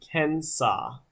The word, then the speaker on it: Kansas: Did you know that the Indians after whom the state and river are named pronounce their name Kensaw, like Arkansas?